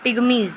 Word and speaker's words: pygmies: हैं जायरे बेसिन के, वहाँ पे बेसिकली ये पिग्मी बोलेंगे। ठीक है, बिकॉज इंग्लिश में इनकी जो स्पेलिंग है वो इस टाइप से आएगी, PYI नहीं है, वाई है, PYGMIES। तो पिग्मीज़ जो हैं कहाँ के,